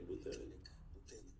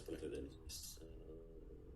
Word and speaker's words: Buterin: Vitalik Buterin. Yes, Buterin. His name is pronounced correctly.